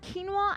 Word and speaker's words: quinoa: It is pronounced quinoa.